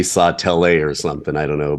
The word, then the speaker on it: Sautel: sure that I pronounce Sawtelle is that correct it's just like it's just like Saw s a w and then tell I'm telling someone about